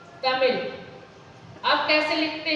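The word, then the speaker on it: तमिऴ: तमिल, तमिल, ल, न इसका उच्चारण पूरा ल है और न ही ड़ है। इन दोनों के योग से जो उच्चारण हो रहा है वो इस विशिष्ट व्यंजन का उच्चारण आपको करना है,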